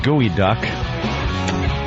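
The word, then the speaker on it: geoduck: Pronounced gooey duck.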